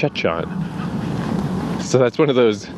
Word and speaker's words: Jecheon: getting this wrong but the way they pronounced it was more like Chon so that's one of